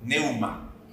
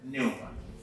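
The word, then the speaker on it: pneuma: Neuma. ¿Ya? Sí, con P al inicio. Neuma. No se pronuncia la P.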